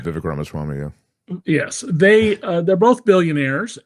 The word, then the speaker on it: Vivek Ramaswamy: Elon Musk and Vivek Swamy, I'm mispronouncing his name. Yeah, right, Vivek Ramaswamy, yeah.